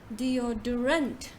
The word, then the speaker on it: deodorant: We say the correct pronunciation is deodorant, deodorant, deodorant.